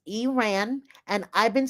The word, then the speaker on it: Iran: She was named after Stevie Nicks, and she gives us an education on the pronunciation of Iran versus Iran. So it's not Iran, it's Iran.